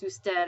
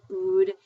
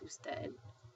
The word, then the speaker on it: usted: instead which is abbreviated UD and it's still pronounced usted I've had students before call it Ood but um it's not it's not food it's usted I like to work out very well and